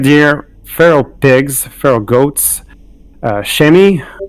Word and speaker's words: chamois: feral pigs feral goats chemi i don't know how you pronounce it in my beautiful french it would be chamois yeah red beer